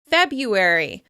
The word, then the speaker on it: February: You've definitely heard this when talking about months of the year, since February is usually pronounced without that first /r/ sound: "Febyuary, Febyuary."